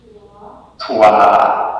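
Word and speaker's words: twā: How do we pronounce that? Give us a try. Twa. Oh, very nice. Although that sounds like three in French. But yeah. In Old English, we do twa.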